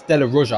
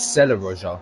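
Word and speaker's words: della Roggia: No, that's Della Roja. I said Sella Roja, so it begins with an S because that's what I saw on my track map. Seraglio. Yeah, so I just said it wrong then.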